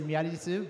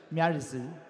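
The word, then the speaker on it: Miary Zo: In Japanese, they say Miyarizu, but in English, it's like Miyarizu.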